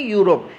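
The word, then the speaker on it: Europe: सही प्रोनाउंसिएशन है यूरोप।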